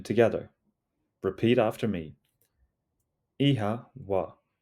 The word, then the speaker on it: Oíche mhaith: Ihawa, ihawa, ihawa. It sounds like ihawa. The O has a long sound and the MH is pronounced like a soft W.